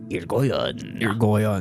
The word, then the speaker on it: Irigoyen: This is how you pronounce the name of the Robert who owned the house. It is Irigoyen. Irigoyen.